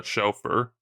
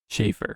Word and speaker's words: Schaefer: 1946 by Vincent uh chauffeur I might pronounced that last name wrong Schaefer Schaefer okay yeah it's like the fountain pen chafer oh actually okay um